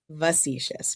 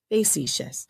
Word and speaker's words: facetious: I always thought it was facetious, but it's actually facetious.